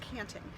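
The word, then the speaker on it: tjanting: guys so this is called the canting tja and TI ng pronounced canting and you scoop up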